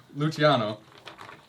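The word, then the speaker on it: Luciano: Lucky Luchiano.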